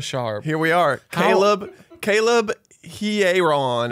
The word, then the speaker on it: Hearon: Caleb Hearon. Everyone's saying it wrong. They are It's saying he. it wrong. You start with your pronouns. He. And then Aaron.